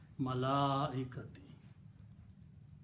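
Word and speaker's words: الملائكة: So here, because this is a Hamza here and there is an alif before that, so you have to stretch it in the pronunciation. Mad should be pronounced. Malaikati.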